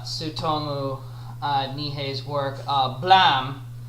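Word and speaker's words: Blame!: uh nihe's work uh blam uh at least that's how i'm pronouncing it it's not like blame because it's supposed to be the the sound that a gun makes when it goes off so so i'm so the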